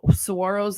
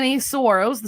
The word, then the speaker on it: saguaro: This also applies to saguaros that have died on your property. So last summer, many saguaros, so those of you that don't know how